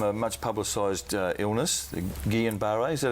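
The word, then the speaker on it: Guillain-Barré: The Gillian Bar, is that how it's pronounced? Uh, Gillian Bar.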